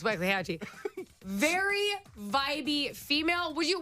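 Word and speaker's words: Waxahatchee: your wax a hatchee now you seen this name and you don't know how to say it I understand it's w Hatchy very vibby female would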